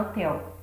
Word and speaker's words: hotel: por exemplo a palavra hotel. Você tem o H na frente, mas na hora de pronunciá-la, nós emitimos apenas a letra O. Então o H não tem som.